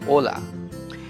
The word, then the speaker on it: hola: introduction we said ola we wrote with h o l but we did not pronounce h we said hola so h is always